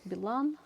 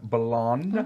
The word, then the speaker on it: Bilan: Another way, you are welcome to find me on Facebook, Instagram, whatever, Bilan.